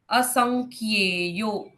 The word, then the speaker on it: असंख्य: यह है असंख्यो यहां पर कैसे कैसे अक्षर है अ और स के बाद अनुनासिक उंग है वो सं फिर आधा ख और ये जोड़ा है उसके साथ संख्य ऐसे असंख्य असंख्य यो प्रमेयात्मा असंख्य यो